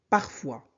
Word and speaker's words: parfois: Parfois. Parfois. O-I se prononce soit. S ne se prononce pas.